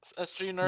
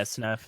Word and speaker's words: sgnurf: Is that how you say it? SG Nerf? Yeah, Snurf. Signurf? G silent. Snurf? G is silent.